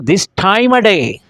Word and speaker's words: this time of day: तो आज की जो क्लास में आप रिदम सीखेंगे दिस टाइम ऑफ को, दिस टाइम अ डे, दिस टाइम अ डे। तो ऑफ को आप आई के साथ मिलाकर प्रोनाउंस करेंगे, आईमा, आईमा।